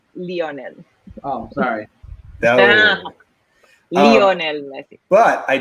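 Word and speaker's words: Lionel: gonna say it wrong you're gonna say you lie on and it's leonel oh sorry leonel but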